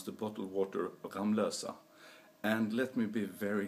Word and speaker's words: Ramlösa: how we're supposed to pronounce the bottle water ramlosa and let me be very clear since I live in ramlosa that it is supposed to be pronounced ramlosa nothing else and I can also tell you